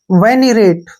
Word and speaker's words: venerate: वी का उच्चारण हम वे के रूप में करेंगे, एन ई का उच्चारण नी हो गया, वैनी। क्या पढ़ेंगे इसको? वैनी। अब यहां से यहां तक पढ़ते हैं। आर ए का उच्चारण रे के रूप में हो गया, टी का उच्चारण टे हो गया और ई का उच्चारण हम नहीं करते हैं। वेनिरेट, क्या पढ़ेंगे इसको? वेनिरेट।